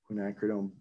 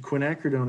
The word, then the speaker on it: quinacridone: i i like to the quinacridone is hard to pronounce so some people call it quinn or quack it's quack hooked on